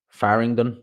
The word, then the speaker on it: Farringdon: It's near kind of Farringdon is how you pronounce it.